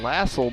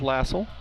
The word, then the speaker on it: Lassell: It's pronounced Denton Lassell by our guy Don Timmerman, so we'll go with Lassell. Another whistle, and I think another foul.